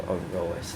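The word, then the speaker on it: Aorus: Let me see, is it Oris or Aroas? Let me see how you actually pronounce this shit. I think it's Oris. Yes, it's Oris Master, okay.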